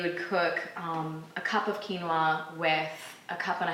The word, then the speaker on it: quinoa: you go our next one is quinoa spelled q-u-i-n-o-a and pronounced quinoa it's an ancient grain from south